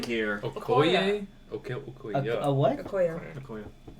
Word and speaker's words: Okoye: Okoye? Okay, Okoye. A what? Okoye. Okoye. I was wrong by one How'd you syllable.